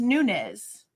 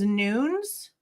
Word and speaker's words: Nunez: point on top of apparently Nunez is not pronounced Nunees. In the video, one of the people, one of the police officers that's been working with him, they say his last name as Nunes, and I think that's